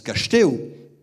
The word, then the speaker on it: Castex: L'actuel Premier ministre, Jean Castex, d'ailleurs on dit Castex, moi je prononce Cachetéo, parce que c'est une graphie de...